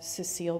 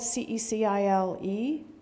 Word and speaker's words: Cecile: under the spell of Cecile Brunner roses. Now, correct me if I'm wrong. It's spelled C-E-C-I-L-E, Cecile. That's Cecile. That's a woman. That's not Cecil. That's Cecile.